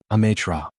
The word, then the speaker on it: Amatra: And it's not complicated. It's 3 syllables. Amatra.